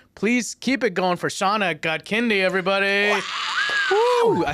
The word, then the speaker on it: Shaunak Godkhindi: Please keep it going for Shaunak Godkhindi, everybody.